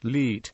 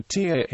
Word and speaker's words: latte: differently stressed for example while the word latte is pronounced Le in most variants of the English language it is usually pronounced the TA in Hong Kong English with the second syllable stressed instead of the first a mission of entire